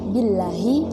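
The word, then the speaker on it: بالله: Adapun cara membacanya yaitu ba billahi dan wawu adalah wallahi dan tak adalah tallahi.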